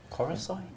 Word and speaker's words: Coruscant: Coruscant? That's how I've always pronounced it.